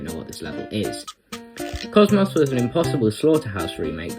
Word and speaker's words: KOCMOC: team's newest project it goes by the name of Cosmos or cotton to most English people as mispronouncing words is